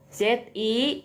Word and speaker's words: zi: Nah, lalu ZI juga dibacanya bukan Z tapi C. Nah, kayak C ya bahasa Sunda ya.